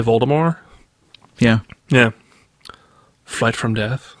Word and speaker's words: Voldemort: you know didn't rolling originally intend the T at the end of Voldemort's name to be silent but because everyone pronounced